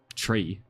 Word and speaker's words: three: Three is pronounced tree.